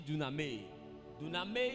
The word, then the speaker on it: dunamis: ne savent pas écrire d'une année d'une année s'écrit simplement des u d'accord d u n a M a I d'accord ça se lit d'une amie qui signifie celui qui